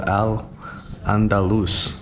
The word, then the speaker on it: Al-Andalus: And you can see, so Andalusia, when it was under Islamic rule, was called Al-Andalus. So that's how you would have pronounced it.